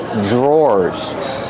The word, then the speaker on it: drawer: These are called drawers. The pronunciation is not like the spelling. Pronunciation dr makes a J sound. J plus the R together. J. Drawers. Or like door and floor. Drawer.